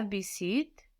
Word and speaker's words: visite: No, it's there to let us know to pronounce the T.